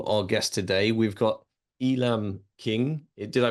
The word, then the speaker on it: Elam King: We've got Elam King. Did I pronounce that right? Elam King, yep.